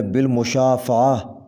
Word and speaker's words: بالمشافہہ: کے بعد الف آئے گا بھروسہ۔ بالمشافہہ، صحیح تلفظ ہے بالمشافہہ، بالمشافہہ۔ براہ کرم، صحیح تلفظ ہوگا براہ کرم،